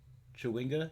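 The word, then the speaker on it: chwinga: it um chardelin yep i said that right chiwinga yup i said that right what else we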